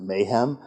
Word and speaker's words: MHAAM: can promise you uh many people pronounce it Mom I as some of you know I tend to pronounce it mayhem which is not entirely inaccurate we have two graduate